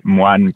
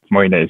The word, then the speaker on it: Moine: We would like to continue with Moine. Is that pronounced correctly? It's okay. It's actually a French name, so it would be Moine, but Moine is perfectly fine.